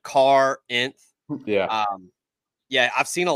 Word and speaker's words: Corinth: you real quick yeah it's like it's like Carr inth yeah yeah I've seen a lot of him